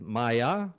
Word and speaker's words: Mia: Hi, I'm here with Maya Lloyd. And even though her name is spelled M I A, it's pronounced Maya, right?